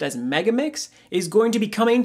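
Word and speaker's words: MEGA39's: to go see this Hatsune Miku Project Diva mega 39 what apparently it is actually pronounced as mega mix is going to be coming to the Nintendo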